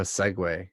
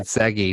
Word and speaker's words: segue: way you said that it's more of a segway than it is an interlude that's how you say it yeah i said did you know i mean i think i thought you said i thought you said segi which was like you know like